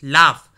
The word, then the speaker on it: laugh: इसमें एक चीज़ और दोस्तों बता देता हूँ, लाफ में जो जी का इस्तेमाल हुआ है बेसिकली इसमें जी जो है साइलेंट है।